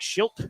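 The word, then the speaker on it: Shildt: Mike Schult.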